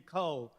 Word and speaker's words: Kou: legal of women uh my name is uh spelled with a k o u and here is